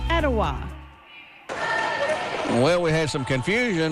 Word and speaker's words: Etowah: I'm from Cleveland, Tennessee, and it's pronounced Ocoee, Etowah, and Hiwassee.